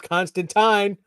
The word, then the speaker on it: Constantine: issue eight we got props for how we pronounced Constantine rymes with swine yes sir yeah and for